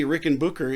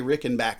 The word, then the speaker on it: Rickenbacker: Well, and I thought it was, and it might be Rickenbacker in Germany. I'm not sure. It might be, but here in America, they say Rickenbacker. Yeah, it's Rickenbacker. And so that's you gotta say it how they say it.